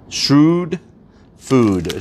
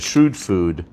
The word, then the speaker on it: Shrewd Food: and these are from shrewd food shrewd food i believe i'm pronouncing that right s-h-r-e-w-d shrewd food protein croutons and protein